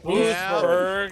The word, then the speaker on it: Oostburg: It's Oostburg. And he said, Oostburg. Big fan of the show. As I stepped outside. How many syllables? It's 2 syllables in Oostburg there.